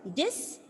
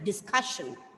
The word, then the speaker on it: discussion: So I'll tell you, discussion. So you have to stress on the second last syllable.